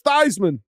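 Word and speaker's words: Theismann: that's him they say it's th it's it's thyman come on man you're lying greatest bit ever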